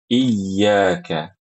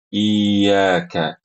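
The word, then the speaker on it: إِيَّاكَ: Jadi, ketika membaca iyaka harus benar-benar fokus huruf ya-nya harus jelas. dan harus dihentakkan iyaka, iyaka, iyaka seperti itu. Jangan ee landai iyaka iyaka seperti itu.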